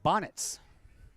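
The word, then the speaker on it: Banovz: pronounce I asked and he said it's Bonnet just like Easter bonnets like okay that makes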